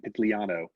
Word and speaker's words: Pitigliano: right uh i think our critique group pronounced the g in pigliano the whole year so it's totally silent say it one more time so i can be sure i can repeat it correctly ah that's nice yeah yeah when you see gli it's always pronounced ye oh you've got